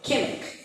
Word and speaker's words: Qimmik: Then his most recent book, interesting, just published last year, 2023, easier name to pronounce, QIMMIK, Kimmick. And Kimmick is the name, it's a dog, it's the Huskies.